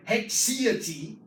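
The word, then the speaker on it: haecceity: called primitive distness, or hexiety. Hexiety, that's how you pronounce it.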